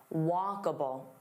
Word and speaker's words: walkable: Walkable. Walkable. So here there are three sounds. Walkabable. So notice that a and then bull. It's not able, it's walkable. Walkable. Now let's talk about a